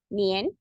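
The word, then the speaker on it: 年: is denoted by this character this character is pronounced as nian okay for example the year 2000 okay you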